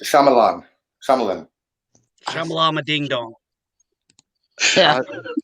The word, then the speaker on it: Shyamalan: It's pronounced Shyamalan.